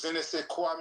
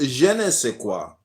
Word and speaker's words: je ne sais quoi: Do you know what je ne sais quoi mean, brother? Yes, sir. What does that mean, brother? That means you're a real African. It is pronounced je ne sais quoi.